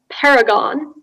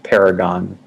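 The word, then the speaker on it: perigon: your word is a homonym the word is paragon uh it's a noun meaning an angle obtained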